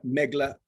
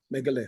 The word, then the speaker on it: Megalith: a new level right is that megla how you pronounce it yeah megalith and that uh that's still